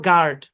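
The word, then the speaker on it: guard: জি এর পরে ইউ, তারপর ভাওয়াল থাকলে ইউটা সাইলেন্ট। মানে জি ইউ তারপরে যদি ভাওয়াল থাকে, যেমন এটা গেস, তারপর হচ্ছে গেস্ট, তারপর গার্ড, গাইড।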